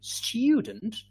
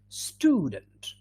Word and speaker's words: student: british people would say student american people would say student good all right we